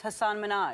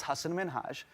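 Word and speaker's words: Hasan Minhaj: television good please because everyone that says your name says hassan minaj yeah but the real way you pronounce it and this is a big deal because my parents are here it's hassan minhaj and people always mispronounce it they're always like haseem menager hussein number six michelle obama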